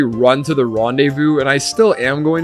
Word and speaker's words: rendezvous: I thought that word was going to be a really, like, pretty French word, but no, it's rendezvous. It's spelled Rendezvous.